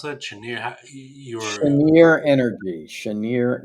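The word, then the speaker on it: Cheniere: How do you pronounce that? Chener.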